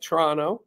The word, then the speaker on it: Toronto: including Canada there you go Toronto see I pronounced it right for you Toronto the was silent um but um they uh